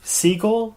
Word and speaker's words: Segal: I'm here with Segal. Segal? You were right the first time. Right. Cool. Segal, the emphasis on the first syllable.